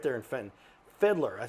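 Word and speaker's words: Fiedler: Fiddler. I looked it up. I said that name wrong all my life.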